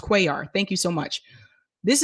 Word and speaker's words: Cuellar: So someone told me it's pronounced Cuellar.